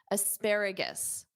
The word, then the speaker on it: asparagus: Notice at the ending of this, it's gis, is, gis. Asparagus.